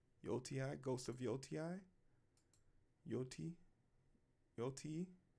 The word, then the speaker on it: Yotei: Yotei. Yotei, Ghost of Yotei.